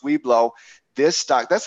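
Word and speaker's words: Weibo: Weebo WB, but it is pronounced Weeblo.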